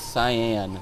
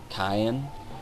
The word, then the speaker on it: Cyan: second rule scenario and it's cyan now I was talking earlier about pronunciations when I was younger in playing this game I actually called him Cayenne and although that was a cooler sounding name definitely later on